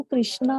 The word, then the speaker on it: कृष्ण: कृष्ण, हरे कृष्ण कृष्ण कृष्ण हरे हरे, हरे राम राम Ram Hare Hare, perfect pronunciation है, ठीक है। हरे कृष्णा आप गलती कर रहे हैं, लेकिन क्या है